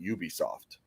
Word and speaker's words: Ubisoft: I don't get it because it just should be pronounced Ubisoft.